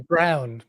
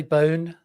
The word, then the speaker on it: Bown: A lot of people call me Brown, but there's no R in my Oh, there's no R. Yeah. So, how do you pronounce it? Oh, that's bound. I could say bone.